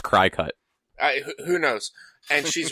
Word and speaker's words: Cricut: So, for the listeners, my sister's doing crafting with her Cricut, or Cricut, however you're supposed to pronounce it. I thought it was pronounced Crycut.